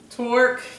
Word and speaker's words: torque: Torque is the new force that we're studying today. T-O-R-Q-U-E, pronounced torque.